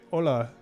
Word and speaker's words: hola: them um greetings from so you just say hola is how you say okay so it's very similar just um drop the h there that's cool okay all